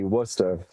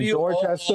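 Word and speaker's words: Worcester: know how to read say wusta. It's just wusta? Okay. It's wusta. Wusta and warchester? W O S T A H wusta.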